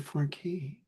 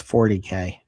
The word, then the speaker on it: 40K: It's Warhammer 4K. He didn't care about 4K. I care about saying it correctly because it's 40K.